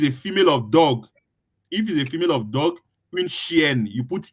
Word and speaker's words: chienne: female of dog, une chienne, you put e. But with the dog, you put une chienne. ne again, like une chienne, chienne. You pronounce with ne, une chienne, un chien, Okay, une chienne.